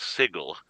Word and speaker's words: Sigil: the magical thing uh according to Dave Cook apparently it's pronounced sigle um and he knows